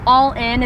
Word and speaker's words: Alyn: my second name and all in is not my last name it's actually my full first so my full first name is allen so if you're ever